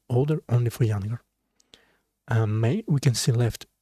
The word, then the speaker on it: 妹: So may, it's, if you can see this, it's probably pronounced like may.